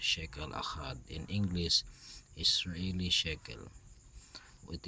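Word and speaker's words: שקל אחד: It is pronounced as shekel achad.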